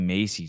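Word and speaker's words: Mace: see what she is Nancy Macy oh God I what is she US Representative do I have her name wrong I N M oh Nancy ma okay yeah thank you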